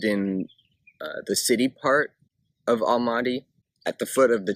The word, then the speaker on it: Almaty: As far as where I lived in a city called Almaty, which, if you put it into the Kazakh language, would be pronounced Alma-Ata, which actually means the father of apples.